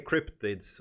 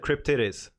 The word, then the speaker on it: cryptids: This is the cryptids or cryptid. I don't know how should you pronounce them? Cryptids. Because I said cryptidis, and that's almost right.